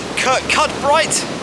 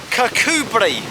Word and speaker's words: Kirkcudbright: this town i think i would go for cut bright or something along those lines with the actual pronunciation as i have found out is kakubri very difficult when you're just reading it on